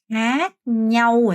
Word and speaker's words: khác nhau: 캬 이렇게 발음하는 사람도 있죠. 캬 아니에요. 캬 아니고 아는 장음이기 때문에 khác nhau 예요.